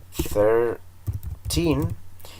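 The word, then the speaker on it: thirteen: Entonces, si se fijaron, desde el 13 hasta el 19, el acento siempre iba en la última sílaba. Entonces tenemos la palabra, por ejemplo, el 13, que es 13, el acento siempre va al final.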